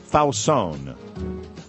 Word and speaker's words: Fausone: Yesterday was the 46th birthday of Laura Fausone, which rhymes with Stallone.